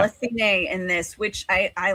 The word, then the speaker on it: Athene: Horrible at pronunciations. I am sorry, but the goddess Athena, which they call Athene in this, which I like Athene, but as far as I've known, it's always been it's Athena.